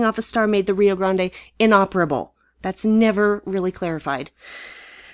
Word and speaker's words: Rio Grande: the rio grande that's how it should be pronounced rio grande who the hell is in command of ds9